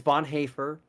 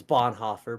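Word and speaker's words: Bonhoeffer: Dietrich Bon haer and it is Bon haer I'm sorry for people who don't know how to pronounce German and German names I know it looks like it's Bon Hofer but it's not German OE is a but Bon haer says sorry I'm in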